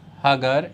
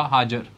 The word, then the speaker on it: Hagar: और जो यहाँ दूसरी हैं वो हैं, स्पेलिंग लिखे आएंगे HAGAR, हागर, या कहीं कहीं पर लिखा होगा हाजर, ऐसे भी लिखा होगा, ओके।